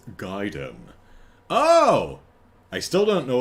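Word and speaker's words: Gaiden: I guess gayen is just one of them. No, young Andrew. It's Giden.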